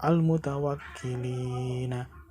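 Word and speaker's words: المتوكلين: Selanjutnya yang terakhir ada kalimat al-mutawakkilina. Dibaca al-mutawakkilin. Hukum bacanya adalah mat arli sukun karena ada mat tabi'i diikuti dengan huruf hidup lalu dibaca waqaf.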